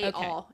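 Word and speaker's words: Chaol: So, uh how is his name pronounced? Is it Kol? Is it K? K. K. All.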